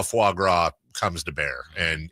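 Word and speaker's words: foie gras: It's f It's fuagra.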